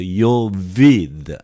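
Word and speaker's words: Ἰωβήδ: Tu yese, tu yo, I pronounce together, eo together, yo vid. This is a V sound.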